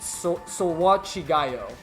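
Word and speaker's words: それは違うよ: It's Sowachigayo is how they say it.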